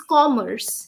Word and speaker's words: Commerce: thing would be pronunciation the pronunciation of a and o for example it's Commerce you know Commerce your lips should round yes yeah Commerce Commerce